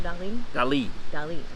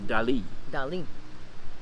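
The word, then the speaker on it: Dalí: you say it yes salvador dali because i mean i've always said dolly like hello dolly hello dolly yeah i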